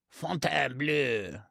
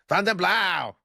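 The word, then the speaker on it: Fontainebleau: Please learn the correct pronunciation of Fountain Blue. You continue to say it like Fountain, but you're supposed to say Fountain Blue or like Vegas Poly C says, Fountain Blow.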